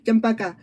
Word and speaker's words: champaca: It's sound as it's spelled as the sound, champaca.